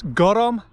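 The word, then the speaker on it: gorm: It's gorom, an-diugh and Epenthesis. Do you notice what I did there? Each one is pronounced with an extra syllable than is written.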